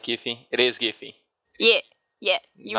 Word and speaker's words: Giffy: So it's interesting that I have the hard G sound at the beginning, so it's Giffy, and you have the soft G sound, so you're Giries.